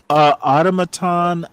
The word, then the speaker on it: automaton: Automaton literally is how it's pronounced, Eric W. Son, I know how to pronounce Eric W. Automaton. He thinks it ought to be pronounced automaton or some bullshit like that. Automaton is how it's pronounced. Period. Learn English, son.